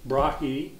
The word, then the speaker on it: Tycho Brahe: you can say Tuco because this isn't a Danish name it's latinized um and Latins borrowed their why from the Greeks which is opsilon which is pronounced to anyhow this can be brah brahi or brah and you